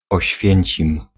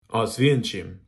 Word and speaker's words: Oświęcim: I probably did not pronounce that properly. Oświęcim. Oświęcim.